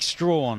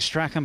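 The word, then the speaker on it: Strachan: World Junior Champion Antonique Strawn her surname looks like Sten but she says she wants to pronounce it stra she's in five and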